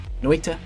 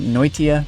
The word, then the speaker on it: Noita: Noita. I like to pronounce it Noitia for some reason, like there's another I in it. It's not the case.